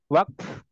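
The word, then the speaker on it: وقف: tu jadi Wak I kalau kita ngertinya waqaf Tapi bacanya waqf waqf waqf wakf wakf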